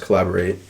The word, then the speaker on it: Caleborate: which his name is i'm pretty sure it's pronounced collaborate um i've spun some